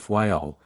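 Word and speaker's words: Fayal: people there pronounce it fyl and put the accent on the first syllable we anchored in the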